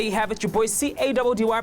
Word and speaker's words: Caddy: Your boy C-A-D-D-Y pronounced Caddy is calling it mission accomplished.